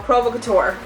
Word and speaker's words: Provocateur: company okay um provo couture there we go provocateur okay the next one is the 7 30